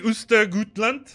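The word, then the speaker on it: Östergötland: Jingles, can you play Ostergötland?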